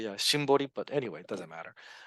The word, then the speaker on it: Shimbori: or to be more, I don't know why I'm pronouncing it Symboli, but it's actually Shimbori, but anyway, it doesn't matter.